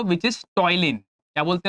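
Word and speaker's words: ptyalin: दे दो which is टॉयलीन। क्या बोलते हैं उसको? टॉयलीन एंजाइम। अब टॉयलीन में ना पी साइलेंट होता है।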